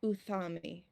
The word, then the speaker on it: Euthami: They called themselves Uthami. It's spelled Euthami for anyone who takes notes.